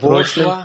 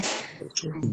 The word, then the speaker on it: bourgeois: You are near to that, but the first one is rapprochement. It's rapprochement, and the second one is bourgeois, right? Rapprochement and bourgeois, though the spellings are something different, because we mostly focus on the spelling, but it's not the case in English.